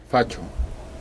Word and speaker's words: fascio: Es que en italiano, fascio, se escribe SC. Facho.